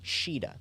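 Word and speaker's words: Shiida: something to say here in the OVA it's actually pronounced as shida shida thank you shida is her Japanese name but CA but it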